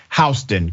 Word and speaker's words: Houston: houston excuse me houston it's spelled like houston but it's houston county georgia houston county sheriff's